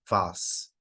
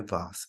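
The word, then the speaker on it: vase: তারপরে দেখেন, অন her birthday Lisa received an antique ভাস। এটা উচ্চারণ হয় ভাস, এটা হচ্ছে নাউন।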